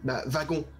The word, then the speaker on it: wagon: Tu dis V, wagon comme si tu prononçais un V, pas ouais. comme un W. Oui, c'est vrai. Tu dis pas wagon. Oui, oui, c'est vrai, c'est vrai. Donc, en Alsace, ils prononcent les W en V.